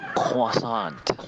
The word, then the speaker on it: croissant: that Hey, you yeah, guys are saying it wrong. It's a croissant.